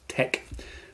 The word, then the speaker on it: TeX: Uh, one of the most famous and long lived ones has been uh Tex Te always pronounced tech uh te kai the Greek letter or latte um uh designed by